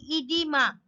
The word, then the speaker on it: oedema: Spelling is Oedema, but remember this pronunciation will be edema.